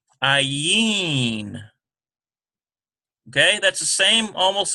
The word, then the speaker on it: Ayin: So now we have another silent letter. Ayin.